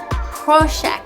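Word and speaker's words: Prošek: to a pork and it's pronounced proshack these are more like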